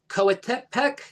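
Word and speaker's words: Coatepec: Founded entirely from scratch and Kateek, is that correct in the pronunciation? Correct. Quotec Verarac Cruz a town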